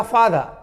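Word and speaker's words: father: लेकिन बोलाएगा समय में, बोलने समय में आपको रॉ को साइलेंट के बराबर कर देना है, नहीं के बराबर कर देना है, नाम मुंह में छोड़ के, ए कुमार, राइट ना। हल्का सा बोलना है आपको, पूरा जोर देकर नहीं।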